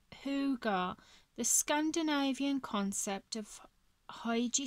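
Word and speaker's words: hygge: yeah i will so it's pronounced ho hooga the scandinavian concept of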